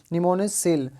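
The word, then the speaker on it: Pneumosil: निमोनिसिल, तो P इसके अंदर साइलेंट रहता है, तो आपको ये याद रखना है।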